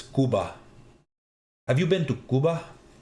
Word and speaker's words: Cuba: I will try to do a roaming backpack stream as well, but that that was it's pronounced sorry, not Cuba. It's Kuba.